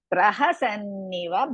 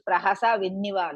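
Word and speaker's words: प्रहसन्निव: Otherwise, some people will use prahasa vinniva like that. Praha sanniva. Pra first you pronounce, then sanniva comes.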